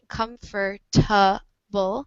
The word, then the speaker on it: comfortable: like in the word, you pronounce it like comfortable. This word or this this vowel here um, that you pronounce like comfortable. So this a sound is kind of erased. It's kind of become silent over the years. The schwa has kind of just disappeared. So now in the United States, it's just pronounced with 3 syllables instead of 4.